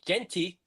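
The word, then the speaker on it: Jeanty: And as for rookie running back Ashton Genty, I said it right.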